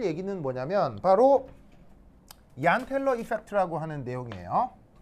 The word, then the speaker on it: Jahn-Teller: 자, 그런데 오늘 할 얘기는 뭐냐면 바로 얀텔러 e펙트라고 하는 내용이에요. 얀이에요. 얀 얀 그 그 독일 사람이에요. 독일 사람 독일에서 죄인은 아이 발음이 나거든요. 그래서 이제 얀텔러 이펙트라고 하는데이